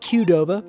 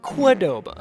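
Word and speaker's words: Qdoba: So, I stopped by a quidoba on my way home. I know it's pronounced quoba, but when I first met my wife, Audrey, she pronounced it quadoba.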